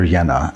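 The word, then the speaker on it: Jehne: a guy named Walter yenna a soil microbiologist from Down Under uh his last name is spelled j e h n e and I suggest everyone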